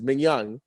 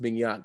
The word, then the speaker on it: Manyang: gotta get to is ming young your name is actually pronounced minhyun i feel like a lot of people don't know this and they all call you oh yeah i'd say